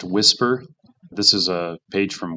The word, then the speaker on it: WSPR: And the answer is WSPR. It's pronounced whisper.